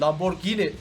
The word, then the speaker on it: Lamborghini: olarak adlandırıyor o yüzden abi bamberg ini değil Lamborghini diye okunur yorumlarda yazmayı diyeceğim de